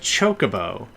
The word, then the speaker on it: Chocobo: It's actually pronounced Chocobo, which I don't actually like.